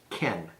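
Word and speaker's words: כן: basic words for instance yes is Ken maybe like our English word or name Ken ke n spelled a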